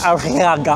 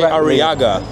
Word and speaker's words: Arriaga: Is that what Arriaga, it's called? Yes. Arriaga. I never pronounce it correctly. You can say Arriaga.